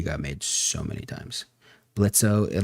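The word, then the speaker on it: Blitzø: Blitzo. The O is silent. I didn't realize how many times that joke got made, but it really got made so many times. Blitzo, like, we get it, bro.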